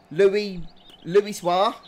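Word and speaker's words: Louisoix: I keep forgetting how to pronounce this, Atticus, Luizio or Luizio or something weird like that. I'm sure somebody in chat will be able to spell it out for me. Louis-Soir.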